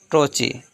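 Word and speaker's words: trochee: A metrical food consisting of 2 syllables, the first is stressed and second is unstressed is called ट्रोची।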